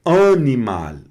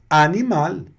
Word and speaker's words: animal: antes de vogal vai perder a característica mais nazalada. Ficam ficam pronúncias orais apenas, certo? E vamos ver os exemplos. Olha aqui, ó. Aqui, por exemplo, animal. Tá bem claro que não fica animal, não é animal, é animal.